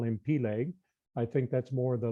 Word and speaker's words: Peleg: But also, his first name was either Peleg, as some pronounce it, or Peleg, as you hear it in some areas, or just different emphasis on the syllables in the way that it's pronounced.